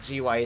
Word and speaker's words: GUI: it is who's that whoever says gooey like get over it it is arguably gui is the better pronunciation i just i